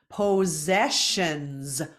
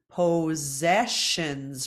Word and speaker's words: possessions: pose then we have the double s sound again but it's not a zed it's a sh sound then we have an S at the end that becomes a z sound so put together pause zash ANS possessions possessions practice that